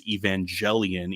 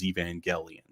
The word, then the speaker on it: Evangelion: can also comically mention how i said neon genesis evangelion even though apparently people told me it was evangelion um but anyway we're